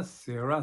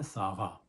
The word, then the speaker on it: سارا: تو کہا جائے گا سارا سے سارا، اور سارا کا جو یادش یعنی ایسٹرن یورپ کا تلفظ ہے ہبرو کا وہ ہے ساغا.